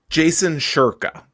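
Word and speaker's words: Jason Shurka: How do you pronounce it? Jason Sherka.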